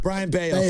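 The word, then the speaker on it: Brayan Bello: It's not Budo. It might be some bellow. Briano. Brian Beo. Thank you.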